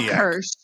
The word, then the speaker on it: Kersch: It's Kersch now, right?